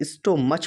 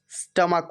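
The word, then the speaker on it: stomach: जैसे बहुत से बच्चे इसे स्टोमच पढ़ते हैं, लेकिन ये गलत प्रोनाउंसिएशन है। स्टोमच नहीं होता, स्टमक होता है, यानी पेट।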